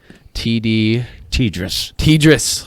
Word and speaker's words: TDRSS: TDRSS.